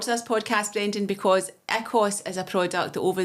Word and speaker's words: Ikos: Is it Ikos or Ikos?